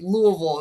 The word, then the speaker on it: Louisville: They say Louisville, you can't say Right, Louis. right. Don't pronounce it too clearly.